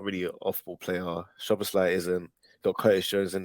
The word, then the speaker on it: Szoboszlai: The other guy, Slobozai, or however you pronounce it. Szoboszlai, yeah.